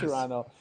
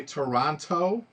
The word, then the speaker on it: Toronto: Americans say Toronto Toronto, and you Yeah, guys say Toronto. You don't say the T at the end.